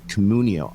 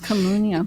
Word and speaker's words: Communio: Uh but Damon also right now is serving as the growth officer for Communo. And I don't know I'm saying it right. Like Communio, I think it is. Communio.